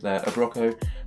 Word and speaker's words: Abroco: That is how to pronounce the name. Yep, Abroco, for this wonderful chair, and it's going to